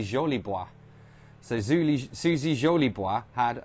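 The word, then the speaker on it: Jolibois: susie jolly boys had i mean it's spelled j-o-l-i-b-o-i-s i guess in in french so it would be uh suzy jolie boi so suzy jolie boi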